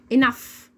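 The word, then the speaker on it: enough: الكلمه بيبقى نطقها كالاتي انف يعني ايه يا مس يعني كلمه الجي والاتش لو جت معايا في اخر الكلمه بنطقها ازن زي صوت حرف الاف بالظبط زي كلمه انف اللي هي معنى كافي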